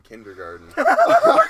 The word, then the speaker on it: kindergarten: Five There's this kid in- it's pronounced kindergarten. Ah, Yeah, it actually is. ah, As far as I know, It's spelled with a T. kindergarten though. There's garden. Garten. garten. Jeez, I've Garten. been It's saying- German.